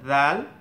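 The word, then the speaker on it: ذال: একটা হচ্ছে জাল, জাল এটা বাংলার জয়, কোনো জয়ের সাথে মেলাতে পারেন, বাট পুরোপুরি জয়ের মতো না, এটা জিহ্বাটা আগে লাগবে গুড়াই। জাল জাল, যেরকম সা সা উচ্চারণ হতো ওরকম জালটাও উচ্চারণ হবে।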